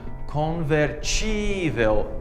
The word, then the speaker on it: convertível: Well, yes, almost, but we also have to change the stress. So the stress is on the E sound in Portuguese. Let me show you how. So, for example, possible becomes possível in Portuguese, and convertible becomes convertível in Portuguese.